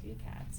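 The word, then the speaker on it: Tukaets: ceramic artist named uh two cats this is man it's spelled very interesting but um it's a t-u-k-a-e-t-s oh two cats yeah like that yeah thank you studio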